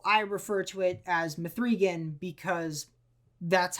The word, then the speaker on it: M3GAN: was Megan though I refer to it as methan because that's how it's spelled I've seen a lot of people that